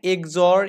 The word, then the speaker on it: XOR: মানে এটাকে বলা হয় এক্সঅর আপনার মতে এক্স অর, হ্যাঁ, কিন্তু আমাদের উচ্চারণ হবে এক্স অর, আর হচ্ছে এক্স নর উচ্চারণ হবে এখানে।